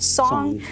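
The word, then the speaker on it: sōng: There's a term for that, which is called song. Like a song, it's spelled S-O-N-G, and it means really just enough effort to accomplish the movement.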